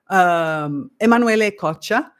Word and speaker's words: Emanuele Coccia: He's actually Italian, which makes more sense because his name looked Italian to me, but I was trying to pronounce it with a French accent. Instead, it is Italian.